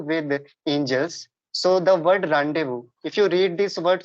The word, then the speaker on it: rendezvous: it's like Rendezvous so the spelling is different and the way you are pronouncing the word it is really different so there are a